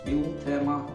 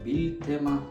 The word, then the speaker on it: Biltema: So this is Biltema, or Biltema, probably correctly pronounced if Swedish.